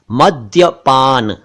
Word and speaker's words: मद्यपान: कुछ लोग इसे मध्यपान या मध्यपान कहते हैं। सही उच्चारण है मद्यपान।